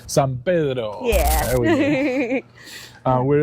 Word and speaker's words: San Pedro: How do you pronounce the last name? San Pedro. San Pedro.